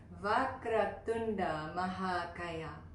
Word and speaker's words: Vakratunda Mahakaya: In fact, let's pronounce it together. So the first line, Vakratunda Mahakaya. Say that with me. Vakratunda Mahakaya.